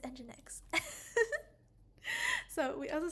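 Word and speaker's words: nginx: and engine engine X I just called it Eng Jinx live didn't I oh my goodness I it's engine X so we also said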